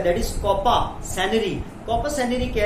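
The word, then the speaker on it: coparcenary: एंड दूसरा क्या है, कोपा, आर इसमें साइलेंट है, कोपा सेनरी, कॉपा सेनरी, COPA कॉपा, आर यहाँ पर साइलेंट है प्यारे बच्चों, सेनरी, कॉपा सेनरी।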